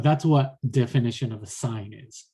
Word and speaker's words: sine: the trigonometric ratio and sine spelled with a sin but don't read it as a sin it's a sign you read that is